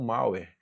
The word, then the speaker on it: malware: se escreve malware, mas é malware, beleza?